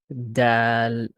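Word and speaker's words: دال: So this is called dal, Dal. dal. Dal. So this is like you put your tongue in your teeth and it's a vibration sound.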